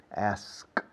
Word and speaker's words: asked: Ahora, lo que sí suena siempre es la T, sonido de T, porque asked es ED al final, pero la pronunciación es una T. Asked, worked, walked, talked, parked, looked, lacked, packed, backed, asked, asked, asked, asked.